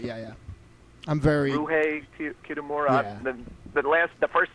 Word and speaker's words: Ryuhei Kitamura: Ryuhei Kitamura.